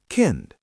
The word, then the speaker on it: Kind: which means child also ends with t while pronouncing. Listen. Rad. Kind.